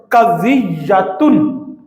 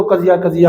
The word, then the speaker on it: قضیۃ: چیز کے نام ہے، قضیۃن، یہ اس کا تلفظ ہے، ویسے اس کو قضیہ ہم بول دیتے ہیں۔ مناطقہ اسی کو استعمال